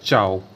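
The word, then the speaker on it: ciao: हो जाता है, यानी आई को नहीं पढ़ा जाता है। जैसे फॉर एग्जांपल मैं आपको बताना चाहूँ, जैसे चाओ, चाओ यानी सी आई ए ओ, यानी देखिए सी के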